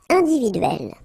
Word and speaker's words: individuelle: So remember when you get this E and then double consonant, and especially here, it's the same one, that's the idea. It will open the sound of E, so you will pronounce it like eh, okay?